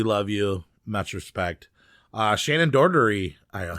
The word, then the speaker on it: Doherty: Shannon Doherty. I said it right. Doherty.